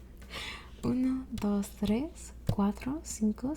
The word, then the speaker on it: tres: two okay we have tres notice there's no h it's not fres it's just Tres and it's spelled that way